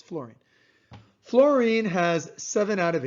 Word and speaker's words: fluorine: most often misspelled element fluorine f-l-u-o it's not pronounced like that by the way it's fluorine fluorine has seven out of eight it's so